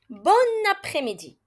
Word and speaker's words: bon après-midi: façon oui parce que si l'adjectif bon rencontre une voyelle on fera la liaison et on le prononcera comme son féminin bonne bon après-midi avant de quitter merci